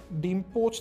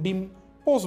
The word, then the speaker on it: ডিম পোচ: এখন ধ্বনি বিপর্যয়ের কারণে ডিম পোচ থেকে মানুষ অনেকে পোস্ট বলে যেমন রিক্সাকে অনেকে রিস্কা বলে ঠিক আছে তো এরকম হইতে পারে যে ধ্বনি বিপর্যয়ের কারণে সে এরকম ডিম পোস্ট বলছে যেটা আসলে ভুল প্রোনাউন্সিয়েশন কিন্তু সে যে ডিম পোস্ট